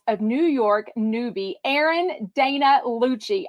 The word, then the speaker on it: Dana: Real Housewives of New York newbie, Erin Dana Lucci. Actually, I think her name is pronounced Donna, like Daily Dose of Donna, D-A-N-A.